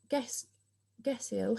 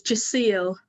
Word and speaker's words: Jaceel: Is it Gesil? How do I pronounce it? No, sorry, it's Jaceel.